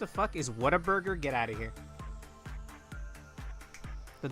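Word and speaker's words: Whataburger: What a burger. What? hyphen a hyphen burger. If you're uh southern or ghetto enough, you might pronounce it waterburger, but we don't we don't talk to those people here.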